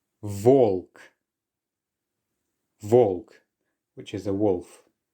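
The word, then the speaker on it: волк: Now do take your time with these because you will naturally want to say B when you see the letter, but just take the extra moment to realize that this is actually the letter V.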